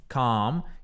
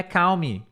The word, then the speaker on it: calm: falando pra vocês, é da pronúncia desta palavra, calm, que não é, vou pegar aqui a tradução fonética, não é calme, tá? Não é cal, não tem L, não tem U, é assim, ó, calm.